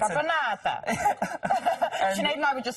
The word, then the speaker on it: Caponata: Your pronunciation is very good. It's Caponata.